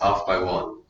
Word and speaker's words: Off X1: So it was called Pronounced Off by One, which is a very lame song title.